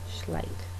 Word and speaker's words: Schleich: check out schleich and keep pronouncing it differently like it's it's german schleich yeah so um yeah